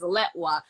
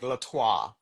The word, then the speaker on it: Letwa: Yeah, I get it all the time, but yeah, it's uh the E is pronounced like an A, so it's like Latwa.